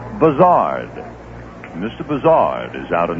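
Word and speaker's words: Buzhardt: philly suddenly announced that he wanted his name pronounced buzzard mr bizzard is out in the yard and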